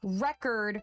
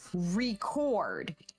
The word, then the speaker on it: record: the final stress so take record versus record in record the stress is on that re that's what you're putting emphasis on so you get the word record but when you have record that second syllable takes the emphasis and it's what we call stressed this is fun you